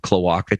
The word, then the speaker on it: cloaca: They might have cloaca too. Cloaca. Brian was correct on the pronunciation.